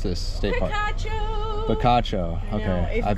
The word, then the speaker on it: Picacho: I wanted to ask you, how do you pronounce this state park? Picacho.